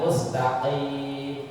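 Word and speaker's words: مستقيم: Mustaqim harusnya mustaqim, qaf dibacanya mustaqim.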